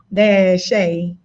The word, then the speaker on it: Taushey: The correct pronunciation is Taushey. So basically you can do it as Tuh-Shay. But a lot of people look at the U and they, have their own perception of how you pronounce my name.